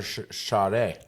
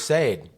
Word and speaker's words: Sade: Second of all, we were arguing over Shade. So, her name I thought my whole life was Sade.